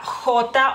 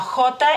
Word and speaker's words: jot: y cómo pueden escuchar se pronuncia de diferente forma no es como en español no es es y